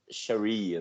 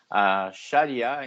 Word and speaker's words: sharia: que afirma fechar mas em inglês as falar sharia né E daí isso influencia a pronúncia em português ficaria assim como se trata